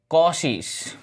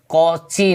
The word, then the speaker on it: Cauchy: ठीक है, तो पहली थ्योरम है कॉशीस। स्पेलिंग क्या होता है? कॉची नहीं लिखना है, ठीक है, CAU, कॉशीस थ्योरम।